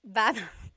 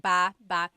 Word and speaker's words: baba: So depending on how you're saying it, it could be ba chin baba. Emphasis is on the first syllable. Baba. Then there's baba baba. Emphasis is on the second syllable syllable. That means to go down.